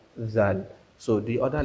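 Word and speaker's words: ذال: The same way we pronounce the letter of tha, that is how we are going to pronounce the letter of zal.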